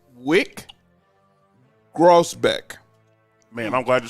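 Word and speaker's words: Wyc Grousbeck: gentlemen my next person and I want to pronounce his name properly it's Wick grossbeck man I'm glad you said that name he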